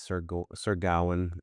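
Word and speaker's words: Sir Gawain: the um Atharian Knights, Sir Sergawan is the proper pronunciation from what I understand.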